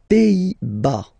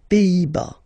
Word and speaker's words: Pays-Bas: Les Pays-Bas. Final S here, not pronounced. Same thing here. Pays, pays, and then bas. Les Pays-Bas.